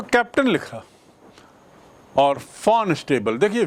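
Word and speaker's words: von: को कैप्टन लिखा और फॉर्न स्टेबल देखिए वी ओ एन वैसे तो उच्चारण इसका वॉन लेकिन जर्मन में ये जर्मन वर्ड है जर्मन में वी ओ एन को फॉर्न बोलते हैं।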